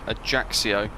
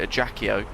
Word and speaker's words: Ajaccio: ages and ages ago i used to call it a jackie o and somebody pointed out that it was a jaxio so i think from